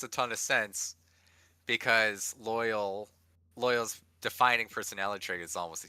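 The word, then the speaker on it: Loial: And is it Loyal? Loyal. Loyal. Oh. Yes. Loyal. He just replaced the Y with an I in loyal.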